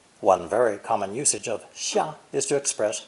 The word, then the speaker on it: 下: This new character for under, below, or the verb to go down, descend, is pronounced fourth tone, 下, 下.